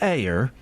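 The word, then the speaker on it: Eyre: How do you say that? E Y R E. Oh, like Janeire.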